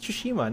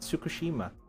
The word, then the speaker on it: Tsushima: on Saturday friends shushima I think it's just tsushima not tsukushima ghost of tushima yeah I